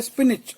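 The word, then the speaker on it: spinach: डू I note 5 हैं पालक को बोलते स्पिनच और की स्पेलिंग होती है एस पी आई एन ए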